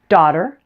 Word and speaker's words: daughter: then you're in luck daughter and water rhyme the only difference is the first sound the D and otter and the W and water other than